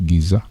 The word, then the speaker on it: Giza: a commonly supposed egypt that is pronounced giza mirantian great pyramids of megurinos kofo and pinaka